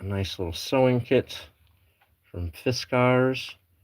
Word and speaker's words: Fiskars: I've got a nice little sewing kit from Fiskars. It's pronounced Fiskars, not Fiskers.